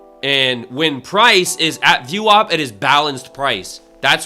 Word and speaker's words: VWAP: It's called it's VW it's spelled VWAP. VWAP. It's called VWOP.